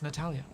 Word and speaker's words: Natalia: Natalia? No, Natalia. It's Natalia. I knew I got the name wrong when I said it earlier.